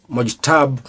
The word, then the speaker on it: Mojtaba: His name is Mojtaba Khamenei, spelled M-O-J-T-A-B-A, but pronounced Mojtaba.